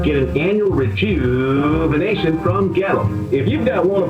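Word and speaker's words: Goettl: It rhymes with kettle, except it starts with a G and it's spelled really weird.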